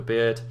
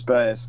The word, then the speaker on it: Baird: Adikiez drops it off to Beard. Beard? I'm saying that right, aren't I? Chris Baird.